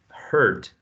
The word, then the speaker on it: hurt: The word hurt. Hurt. Okay. Pay attention to that. This vowel sound here. Hurt is the one you find in girl, in first, in fur, okay, which is this one.